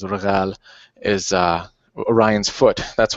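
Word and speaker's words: Rigel: The other thing that I like to do is because we got uh um the proper pronunciation in Arabic is regal is uh Orion's foot.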